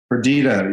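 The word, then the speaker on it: Perdida: I want to just talk about, and apologies if I mispronounce the name of the album, but is it Perdita? Perdita, yes.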